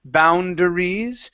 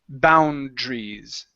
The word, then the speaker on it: boundaries: this this word okay this a doesn't make a sound so we don't say boundaries it's just boundaries okay sort of like